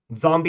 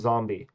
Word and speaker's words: zombie: Zombie is going to have it. But you wouldn't pronounce zombie with a zed sound. you would say zombie with an s sound.